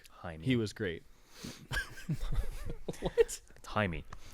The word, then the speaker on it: Jaime: Jaime, not Yeah. Jamie.